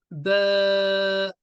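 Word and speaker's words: ب: Cette lettre s'écrit ba et elle se prononcera b comme en français.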